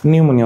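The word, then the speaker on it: pneumonia: tsunami হচ্ছে টি tsunami নিউমোনিয়া হচ্ছে পি নিউমোনিয়া ওকে টি tsunami খেয়াল করটি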